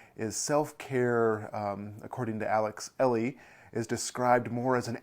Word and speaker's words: Elle: an author named Alex, I believe her last name is pronounced Elle, Alex Elle.